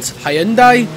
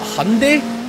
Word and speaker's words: Hyundai: blocking me and yeah that's what I call it here in Scotland Hyandai I think you guys over in America call it Hyundai don't you there's quite a lot